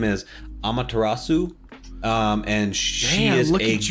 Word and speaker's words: Amaterasu: was from Okami, and the official name is Amaterasu. And she is look at you pronouncing.